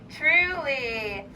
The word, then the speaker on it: truly: The first sound is T. And then it's Those two together, they're sneaky little sneaks. And they sound like ch, but it's trr.